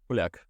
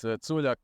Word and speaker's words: Culjak: So Yeah, I think this C in different languages has different. In Italian, I probably could have been Che. it could be Like- it could be Yeah. depends. We have it like in Croatian, it's like in Estonian. So as you spell it, that's how you pronounce it.